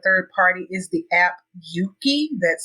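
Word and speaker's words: Euki: information with a third party is the app Yuki that's spelled euk Ki and that app was developed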